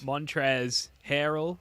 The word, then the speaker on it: Montrezl Harrell: Montrezl Harrell, as I was told by Spoonie to pronounce.